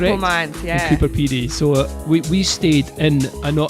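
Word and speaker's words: Coober Pedy: We talked about a place called Cooper Pedy. Cooper Pedy. Is that how I say it correctly? Yes. Yep, Cooper Pedy.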